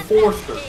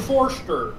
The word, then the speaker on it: Forster: Forrester. You remember Coach Bell? Yeah. He was the one, dude. He got everyone's name wrong. There is no R in that name except at the very end. Mr. Forster.